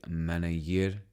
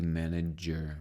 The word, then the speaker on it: manager: have a problem with because they say maner but it should be manager manager j j j manager from January when my